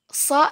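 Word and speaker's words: ص: Perbandingan antara huruf so dan huruf sa. Ustazah ulangi, cara pengucapan huruf so itu ujung lidah ada di belakang gigi seri bawah. Sedangkan bagian pangkal lidah naik sedikit.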